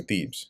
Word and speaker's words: Thebez: Then went Abimelech to Thebes, Thebez, and encamped against. Let me see how it's actually pronounced here. Pronunciation. Yeah, okay, so Thebes.